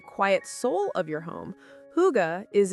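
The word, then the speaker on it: hygge: Huga. Pronounced huga.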